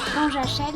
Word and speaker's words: Panajachel: Le problème c'est que ça s'écrit Panajachel et ça se dit Panajachel.